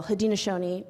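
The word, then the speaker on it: Haudenosaunee: mayor McGriff mentioned I belong and she we pronounced it very well had Shoni people um it's more commonly known as the six nations of iroy but that was our French given name had Shoni Confederacy is is our name and we are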